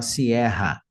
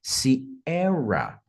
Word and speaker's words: Sierra: olha só que interessante a pronúncia de se erra talvez você tá acostumado a falar Sierra Sierra com esse som de ra r r ho hu Quando na verdade é siera siera taxi via Quebec Romeo